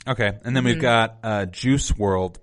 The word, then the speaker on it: Juice WRLD: and then we've got juice world but it's spelt jce world normally in the shownotes juice juice wrld so world there's like it's just